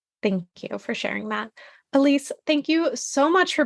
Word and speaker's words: Elyse: um at my name which is spelled a little bit funny so it's e l Ys e is Elise and then Sparks s